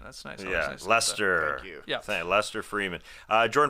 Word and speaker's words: Leicester: Leicester uh which uh thank you for the pronunciation that's nice yeah Lester yeah Lester Freeman uh Jordan from Canada said